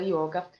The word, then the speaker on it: yoga: ih você vai ter yoga com y você vai ter um só aberto se for essa essa pronúncia ocidental e você vai ter o som fechado e o outro é só